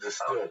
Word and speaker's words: DSTLD: DSTLD, pronounced distilled, offers luxury grade denim at affordable price jeans that would normally cost you hundreds, dog.